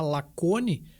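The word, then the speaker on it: Lacaune: produtoras de leite tá uma se chama lacone que se escreve lacune né que é uma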